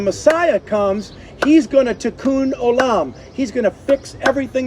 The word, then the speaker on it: Tikkun Olam: It's Tikkun Olam.